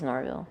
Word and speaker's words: Norville: You said it wrong. It's Norville.